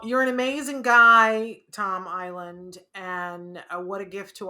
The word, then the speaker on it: Iland: you say island because it's pronounced just like the piece of land out in the ocean island but it does not have the s there is no s in islands so it's